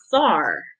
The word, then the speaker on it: czar: C is for a czar. Say it like a Z, like the C is silent, but it starts with C.